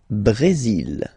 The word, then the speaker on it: Brésil: Le Brésil. Le Brésil. Okay, you will pronounce the final L here, and then remember, accent aigu goes like E.